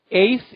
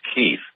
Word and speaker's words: Keith: I believe it's pronounced 8th in Montana. How do you say that? No, Mike, it's Keith. Oh, it's Keith.